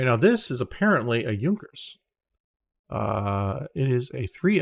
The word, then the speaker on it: Junkers: yeah I know right yunkers this is probably how they were pronounced not junkers for those not familiar with German pronunciation um okay so yeah